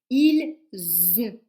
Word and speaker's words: ils ont: avec il au pluriel ils ont voyez c'est le son Z Z comme une abeille Z ils Z on ils ont ils ont un chat ils ont une voiture par contre le verbe